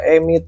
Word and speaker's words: EMEET: Harusnya pronounce Emit ya, bukan Emet ya.